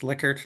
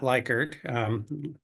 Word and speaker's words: Likert: And yes, it is pronounced Likert, not Likert.